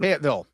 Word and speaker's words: Fayetteville: How do you pronounce it? Fayetteville.